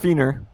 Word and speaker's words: Fina: Her name is pronounced Feener.